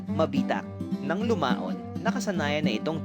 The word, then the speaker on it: Mabitac: ang pangalan ng bayan hirap ang mga Kastila na banggitin ang letrang G sa salitang mabitag na ang ibig sabihin ay patibong kaya't ang laging nabibigkas ay mabitak Nang lumaon Nakasanayan na